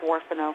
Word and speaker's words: Huerfano: Pronounce it like Warfano. It's Huerfano. So there it is. It's settled. That's how the locals pronounce it at Warfano Cafe in Walsenburg. Pronounced like as a W. front, not an H.